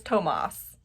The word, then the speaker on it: Tomas: take mercy on me explain to me how to say this man's name it is tomas tomas tomas tomas is tomas and i am real